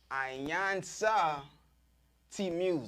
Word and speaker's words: iiiyansaje T Muse: I am now here with the lovely iiiyansaje T Muse.